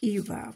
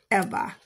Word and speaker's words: Eva: I would pronounce it Eva, but she pronounces it Eva.